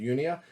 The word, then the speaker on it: Unia: Anyways, the first one I'll show you is Sonata Arctica, Unia, or Unia. I pronounce it Unia.